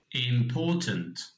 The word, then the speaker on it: important: So there are 3 syllables in the word important, and you can see here in the first question we've got the correct stress marked here with the stress on the second syllable, and then we've got